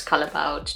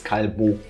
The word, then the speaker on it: Callebaut: First of all, it's a Belgian company, so I'm pretty sure you're supposed to pronounce this in French, so it's Callebaut.